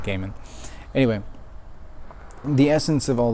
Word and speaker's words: Gaiman: norse mythology o'neil gaiman depending on how you pronounce it i think he actually pronounces it gaiman anyway the essence of